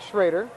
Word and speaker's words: Schroer: and the foul we were told by a very good source that we were mispronouncing schroer and saying it schroer it is in fact shraer Sher sorry so we